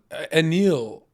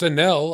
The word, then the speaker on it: Anil: such a gross twist what happened to Anil it's a Nell I've been saying it wrong apparently but I love